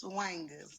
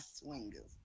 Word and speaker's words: swangers: we pronounce it as swangers, not swingers.